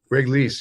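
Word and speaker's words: Greg Leisz: Correct me if I say his name wrong. Greg Lees. Greg Lees, yeah.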